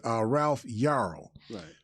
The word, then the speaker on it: Ralph Yarl: Yarl, Ralph Yarl. Yarl. I always have trouble pronouncing his name. It's like Carl, but instead of a C, it's a Y. So it's Ralph Yarl.